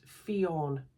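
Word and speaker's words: Fiáin: Fian? .ie. I don't know. I'm not sure. Oh, pronounced Fionn. Fionn. I was quite close.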